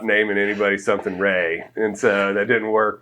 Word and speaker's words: Rhea: And then my mother's name was, her middle name was Ray. Okay. How'd she spell it? She spelled RHEA, okay. Like old school Ray.